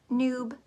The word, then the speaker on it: newb: and you can hashtag the word Noob n-e-w-b rhymes with boob Noob um we want to